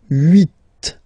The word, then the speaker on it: huit: Okay, then here final T is pronounced, so huit, huit.